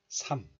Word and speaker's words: 삶: We pronounce this word as 삼. 삼. The sound of 리을 is hidden. But look at this.